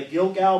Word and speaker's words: Gilgal: Wherefore the name of this place is called, it's G-I-L-G-A-L, the Gilgal, but it's pronounced Gilgal.